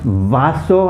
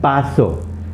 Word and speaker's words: vaso: so the first one can be pronounced vaso and baso you'll mostly hear people saying baso like a b b s o baso basso means a glass